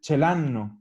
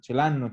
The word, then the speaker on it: ce l'hanno: Y al final, cuando nosotros la pronunciamos, pasa a ser casi como una sola palabra. Como es de forma común, uno dice celanno, como que fuera una pura cosa. Celanno, ce l'avete, ce l'abbiamo.